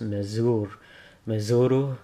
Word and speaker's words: Mezul: the Greed, Mezul, or from what I remember on the show, her name was pronounced Mezuru, but it's spelt Mezul here.